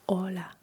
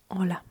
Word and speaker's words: hola: It is hola hola. Uh but it is spelled h o l a l e uh why why because h is silent.